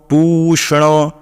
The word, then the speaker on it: पूषण: देखिएगा पूषण पूषण पूषण पू सनो यानी कि तीन मात्राएं हैं यहां पे तो पु में दीर्घ है तो पूषण पूषण न में भी इकले है और आकार है तो वैसा ही उच्चारण करना है पूषण हस्ता ब्याम हस्ता